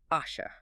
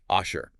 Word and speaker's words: אֲשֶׁר: And that word is kanala, pronounced asha. Yes, asher.